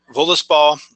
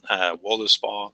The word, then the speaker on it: Völuspá: another Old Norse poem, Völuspá, which is found in the Poetic Edda. Like we've said, it's the first poem in that collection. It's called Völuspá, Völuspá, depending on what pronunciation we're trying to use, something like that.